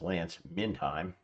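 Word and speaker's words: Lance Mindheim: Uh, Lance Minheim, as I'm told, his name is pronounced, Lance Minheim, also thinks that he wrote an entire book about it.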